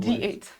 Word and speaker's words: THE8: in Korean, there's no TH sound. Most languages don't have a TH sound. So it's pronounced T. And I that's can what only became think of Yuki. when D8.